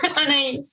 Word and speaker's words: Anais: We have Anais, and I hope I correctly pronounced it somehow. Yes, Anais.